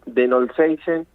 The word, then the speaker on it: De Knollseisen: mejor manera porque es el señor Noseisen, ¿así es el apellido? Buen día, bueno, ¿cómo estás? Bien. Gracias por llamar. No, Mi por apellido favor. es te lo voy a pronunciar bien, A ver. Denolseisen, Ah, de los Seinsein, bien.